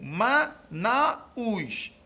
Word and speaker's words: Manaus: letra A eu tenho MA Naus errado aqui a pronúncia é Manaus com um DIT tongo então Manaus está erradamente